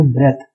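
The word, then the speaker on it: breath: This is इसका pronunciation होता है ब्रीद, और अगर अकेला बी आर ई ए टी एच होगा तो उसको हम बोलेंगे ब्रेथ।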